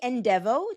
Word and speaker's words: ENDevo: So we say ENDevo, just think of end of life development, that we are trying to develop your end of life plan.